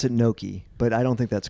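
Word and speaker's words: gnocchi: you said the other except able correct pronunciation Noki Noki yeah yeah yeah my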